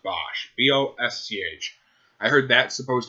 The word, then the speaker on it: Bosch: I heard that, is it Bosch? I think it's pronounced Bosch.